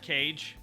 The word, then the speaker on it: Kage: Kage, you rhyme with rage. Rage. Yeah, I'm on the Why are you so stage. angry? Why are you so angry, Me? Cage?